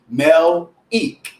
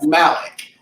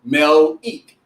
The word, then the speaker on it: Melik: So my name is actually Melik. Roland says Malik. So everyone knows me as Malik. Whenever I'm out, they always call me Malik, but it's actually Melik.